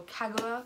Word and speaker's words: Kagawa: So first off, we have Shadow of the Fox by Julie Kagawa. This is a, or Kagawa, I think would be the pronunciation.